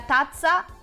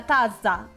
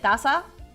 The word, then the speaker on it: tazza: Actually, I'm supposed to say la tazza, like pronounce the Z like a little bit better. La tazza. But we call it tazza.